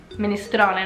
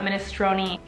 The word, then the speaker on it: minestrone: at the end of with an e at the end of the word minestrone not minestrone pal you tell tagliatelle al